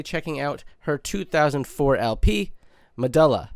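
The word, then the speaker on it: Medúlla: But today, we're going to be checking out her 2004 LP, Medulla, or perhaps it's pronounced Medulla. However, from what I gather, it is Medulla.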